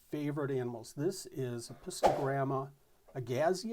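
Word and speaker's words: agassizii: This is Apistogramma Agazizi or Agazizi. I think it's Agazizi. I've heard it pronounced both ways, but just a beautiful, beautiful animal.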